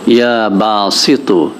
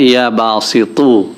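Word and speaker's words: يا باسط: ইয়া বাসিতু, এখানে কিন্তু শেষের অক্ষরটা তা না, ত। আপনারা জানেন যে আরবিতে তা এবং ত দুটা ভিন্ন হরফ। তো এখানে ইয়া বাসিতু অর্থাৎ একটু মোটা করে তাটা উচ্চারণ করতে হবে, ইয়া বাসিতু।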